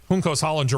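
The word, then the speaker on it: Juncos Hollinger: to be not so big of a surprise hos Hollander racing yes that's how you say it has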